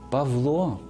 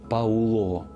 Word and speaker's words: Павло: звуків а й справді пишемо і вимовляємо автомобіль а не Ау автомобілі автор а не аутор Павло а не Пауло але ця зміна пов'язана